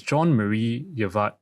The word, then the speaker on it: Jean-Marie Eveillard: His name is I think it's called John It's pronounced Frencher. It's Jean-Marie Eveillard.